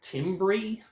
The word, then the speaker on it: timbre: layer texture timbre okay this is a word that looks like timbre t-i-m-b-r-e timbre is how it's pronounced and it just means